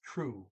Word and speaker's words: tro: about some stuff um story 12 tro is not troll is true okay the o is usually a double o okay and and t